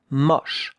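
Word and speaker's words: moche: Look at how to write it. M O C ash. That's uh two letters make the sound sh. It's not. No, it's mush. More open. The mosh.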